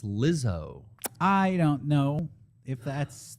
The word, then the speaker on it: Lizzo: Jizzo, I loose. Everybody, we're hitting the pop charts today and tonight. You guys got a favorite Jizzo song? Yep. Rumors. You're saying it wrong. It's Lizzo.